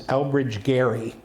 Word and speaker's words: Elbridge Gerry: So one of the people buried there is Elbridge Gerry, and that's how you pronounced his name, and he was a signer